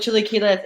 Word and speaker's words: chilaquiles: They have, and I'm gonna mispronounce it, chilaquiles verdes. It's basically Chilaquiles.